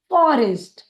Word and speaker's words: forest: और ST या conjoint है, इसे हम एक साथ पढ़ेंगे और उच्चारित करेंगे फॉरेस्ट, फॉरेस्ट। हमारा अगला शब्द है SPRADE।